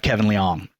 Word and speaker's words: Liang: We have Kevin Liang.